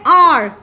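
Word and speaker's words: hour: For example आप जैसे कहते हैं आर. ठीक है, अब यहाँ पर जब आप आर बोलते हैं तो एच तो आपका साइलेंट है.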